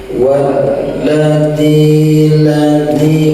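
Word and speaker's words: وَالَّذِي: Pokoknya bacanya gitu, wal centok, ada tasdid ditekan, terhenti sejenak suara. Walladzi, ujung lidah tambahkan ke gigi seri atas.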